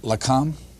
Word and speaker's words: Lakam: I know I'm not pronouncing this right. Lakam. Yes. Is that right? Yes. Uh that's the science liaison bureau or the Israelis called it Lakam which protected the nuclear secrets.